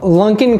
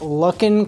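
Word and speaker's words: Luckin: calls every month along the way example two Lunken coffee now as another commenter had pointed out it's actually pronounced luck in coffee there's no end he called me a maniac I think Lunken sounds better and I recommend that they changed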